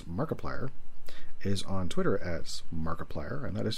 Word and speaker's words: Markiplier: is on twitter as markiplier and that is spelled m-a-r-k-i-p-l-i-e-r it's like multiplier except mark wade barnes is